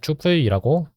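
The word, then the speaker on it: 튜플: 추플이라고 읽으면 돼요.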